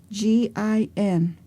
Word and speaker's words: gin: or predicate the past tense by the suffix g i n which is pronounced gin that is past tense in Yavapai